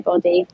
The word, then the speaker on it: Boddy: on Instagram um body I IMO b d y everyone gets my name wrong I think it's B Y like the human body but it's double D um but yeah I